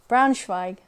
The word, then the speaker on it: Braunschweig: Pronunciation, come on. Braunschweig.